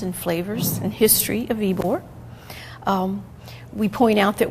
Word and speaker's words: Ybor: questions they want to know how do you pronounce the name and we tell them it's Mr ebore name uh and the second question is well